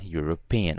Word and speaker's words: European: There's an E, but we don't pronounce the E when saying European. We pronounce the U. So although there's a vowel here, we're gonna write a. So a European and not an European.